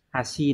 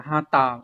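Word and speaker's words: 端: Thì ôn một chút biết đâu người ta sẽ hỏi cái chữ này này, nó sẽ có âm kunyomi là hashi này các bạn này.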